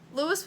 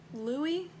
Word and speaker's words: Louis: Lewis was much better. Louis? Can't remember which is the correct way to say it. I'm just gonna say Lewis, though. Louis. No, it's definitely Louis.